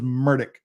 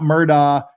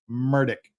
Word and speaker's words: Murdaugh: said his name was murdick not murder he doesn't pronounce it even Murdoch he pronounces his own name murdick it's Alex murdick so